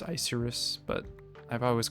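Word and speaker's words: Icirrus: I just remember in my Black and White like retrospective video, I pronounced it Icarus, and I think there's a couple people in the comments calling me out on it. I guess it's pronounced Isurus, but I've always called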